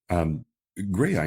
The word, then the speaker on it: Graeae: Well, Graeae is how we pronounce it, as in Graeae. But it's not how it's spelled.